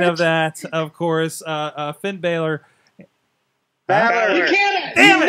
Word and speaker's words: Balor: Baylor. Baylor. Baylor. Baylor. Baylor. Baylor. Baylor. Balor. Balor. You keep on saying it wrong, Sorg. Well, anyways, there's that happening. Think of Valor, only with a B. Valor. Balor.